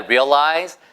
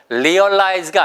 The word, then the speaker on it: realize: realize가 아니고요. 보세요. 그러니까 R 발음만 생각하시면 되는 거예요. R은 입술을 동그랗게 모으고 혀가 어디에 붙지 않고 중간에 공중에 떠 있는 느낌으로 잘 안 되시면 위에다가 R 발음만 살짝 집어넣어 보세요. 되잖아요. 그래서 realize. realize 깨닫다는 뜻이에요.